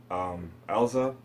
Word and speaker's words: Erza: You know what, I never fully knew how to say her name. So I just used to repeat how they said it in the, in Fairy Tail. Erza.